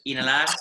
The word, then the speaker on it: inhalar: Remember that with inhalamos and exhalamos, we don't pronounce the H. So it's inhalar, exhalar.